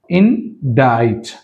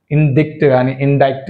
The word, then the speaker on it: indict: ఇండైట్, C silent. ఇండైక్ట్ కానీ అనకూడదు, right?